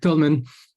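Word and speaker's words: Toulmin: the warrant ah yes t-o-u-l-m-i-n I'm not sure how it's pronounced I'm pronouncing it French wise because that's how I read it Tolman probably just the way I hear it from our rhetoric Professor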